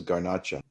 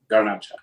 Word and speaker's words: Garnacha: And it's also planted in Spain known as garnaca. Garnacha. But again, back to my previous point, isn't gacha just garnash but pronounced Spanish way.